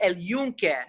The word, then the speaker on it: El Yunque: My mom would correct me when I would speak in the way, say El Yunque about the rainforest in Puerto Rico.